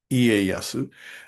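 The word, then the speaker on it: Ieyasu: Again, it's spelled wrong. It's leasu. It's not. It's Iasu.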